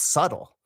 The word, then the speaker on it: subtle: your spelling system why don't you pronounce this word like subtly or subtle or subtly or right it's subtle what a strange pronunciation that's just from